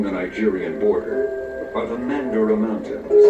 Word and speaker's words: Mandara: nigerian border are the mandara mountains it is pronounced in english as mandurah this word itself is